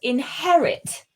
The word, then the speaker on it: inherit: I've just got one word there for correction there, and that is the word inherit. Inherit. Inherit. Mm-hmm. This vowel sound at the end here, it's an I, so it's very short.